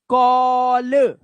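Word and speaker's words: call: तो ए का उच्चारण क्या हो जाएगा? अब ए का उच्चारण हो रहा है। ओ देख रहे हो? अ ए औ। ओ अब ओ की आवाज निकालनी है। कैसे निकालोगे? ध्यान से देखो कैसे निकलेगी ओ की आवाज। ठीक है? देखो ओ ल ऑल कॉल टॉल इसने डबल एल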